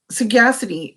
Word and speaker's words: sagacity: it down okay so sagacity is what it's spelled like saga city sa GA c ity